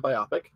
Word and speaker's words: biopic: Yeah, it's a biopic. Biopic. It's a biopic. Anyway, Rhymes with my optic, which is then my idea of this entire film project about Vince.